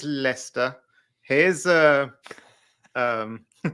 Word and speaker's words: Leicester: I think they they they met the French and they saw how they put all these unnecessary letters into a word and then pronounce it completely differently and they said just hold hold my cup of tea here's Lester here's uh um how